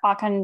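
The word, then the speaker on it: Okan: And Akan is spelled O-K-A-N.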